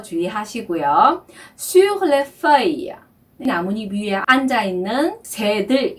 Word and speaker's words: feuille: 그래서 feuille 발음 주의하시고요. 발음은 입술을 O 한 상태에서 에 소리를 내면은 한다 그랬죠. 그래서 feuille 이렇게 발음을 하셔야 되고요.